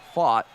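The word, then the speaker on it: Pfaadt: And in the case of fought here, despite the fact his name is spelled P F A DT, he pronounces it fought. The P and the T that anchor it on the outside are silent.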